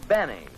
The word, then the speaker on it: Benny: doctor no this is Jack Benny rhymes with penny if he can arrange it and believe me he can mrs.